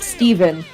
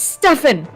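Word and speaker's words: Stephen: That messes me up too when you see Steven with a PH and it's pronounced with a V. Yeah, because that totally reads Stefan. Yeah. Like, it's not Steven. But he was like, no, it's pronounced Steven. And I'm like, oh, okay.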